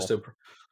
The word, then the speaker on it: Callisto: Like Callisto, is that how they pronounce it? Yeah, Callisto Protocol. Callisto.